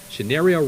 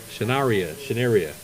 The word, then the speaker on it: Shanaria: So Miss Roberts gave us the perfect pronunciation. What is it now? Shanaria Roberts. Shanaria.